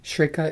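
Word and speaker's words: Schreker: cool learning opportunity there right how do you spell that shrikha is s c h r e k e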